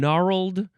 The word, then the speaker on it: gnarled: And so we've got knot and knurled and gnarled, and both knurled and gnarled, they both have a consonant that is silent for some reason.